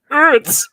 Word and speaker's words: Utz: Oots, oots. I keep wanting to pronounce it with like an umlaut that's not there. Utz.